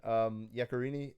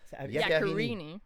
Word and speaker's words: Yaccarini: But yeah, our guest today is Yaccarini, who I said that in the most like Yaccarini. Yaccarini. How do you say that? I love it. Yaccarini.